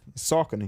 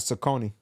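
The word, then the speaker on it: Saucony: salony river in in Pennsylvania oh seriously yeah sakon I never knew that yeah it's not sakone man I never Tau something new been messing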